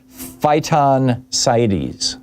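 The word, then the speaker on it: phytoncides: Another fascinating aspect of forish exposure is uh something called phyon sites. I'm I'm sure I'm mispronouncing it.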